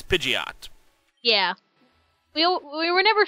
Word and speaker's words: Pidgeot: what to call it if it was Pidgeot or pidet it is Pidgeot yeah we we were